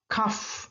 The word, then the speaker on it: cough: Ini batuk cough. Nah, bukan cara nulisnya ya. Kalau cara nulisnya kan GH ujungnya H. Tapi cara pengucapannya patokannya ini berarti pengucapannya ujungnya bunyi F.